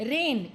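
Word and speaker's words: reign: ब्रिंग back to life रेन इसमें जी silent है बेटा जैसे रेन बारिश आती है ना हमारी उसकी स्पेलिंग अलग होती है आर ए आई एन होती है लेकिन इसकी स्पेलिंग अलग होते हुए भी इसकी प्रोनंसिएशन सेम है तो इसे क्या कहेंगे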